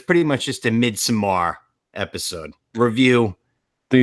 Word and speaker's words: Midsommar: I think it's just midsummer. Midsummer. Am I saying it wrong? Midsommar? It's spelled like that because it's like Swedish, but yeah, I'm just midsummer. reading it like it's supposed to be read.